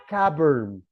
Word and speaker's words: cupboard: The pronunciation of this one, cavern, no cupboard, como le enseñaban a uno en el colegio, no. The right pronunciation, cavern, que es los cajones, las gavetas de guardas cosas, se pronuncia cavern, cavern.